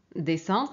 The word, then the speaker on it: descendre: Pour descendre, donc ici on a E, on prononce se. Et ici on a pareil E, on prononce se. Et ici on a CA, on prononce K.